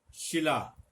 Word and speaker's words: शिला: शिला, शिला चट्टान के अर्थ में आता है, पत्थर की बनी हुई शिला होती है। सिला, कपड़ा सिला, तो यहां पे सिला और शिला में अर्थ का भी अंतर है, उच्चारण के अंतर, लेखन के अंतर के साथ साथ।